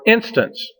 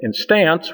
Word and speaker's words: instance: a long syllable but instance we put the stress on the first syllable we don't say in stance we say instance so that combination of